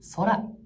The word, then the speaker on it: Sora: 生成 AI である空ですはい S と書いて空と呼びますこの空です